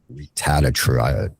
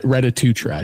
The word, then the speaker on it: retatrutide: And I'm being served ads for I'm going to slaughter the pronunciation. It's like retatru It's Retatrutide.